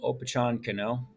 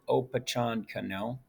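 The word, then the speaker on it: Opechancanough: cano this is how you say his name oppachon cano i'll say it oppachan cano the leader of the poet nation attacked jamestown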